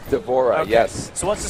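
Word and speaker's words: D'Vorah: What does a swarm queen allow Devorah to do? How'd you pronounce her name? Devorah, is that right? Devorah, okay.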